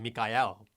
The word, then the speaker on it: Michael: is dad right it's the spelling is clearly michael but you know they're pronouncing mikael right uh and that's